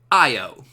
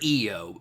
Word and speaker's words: Io: And this one right here, it's spelled Io, and it's pronounced Io. Or Io.